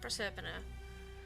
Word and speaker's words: Proserpina: Is it Proserpina? Proserpina.